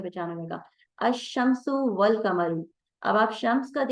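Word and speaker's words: الشمس: आवाज आप नोट करेंगे, अशम्सु लाम को नहीं पढ़ा गया और शीन को डबल पढ़ा गया, और अलिफ से शीन को डायरेक्ट जोड़ दिया गया, बीच में का लाम साइलेंट कर दिया गया, अशम्सु।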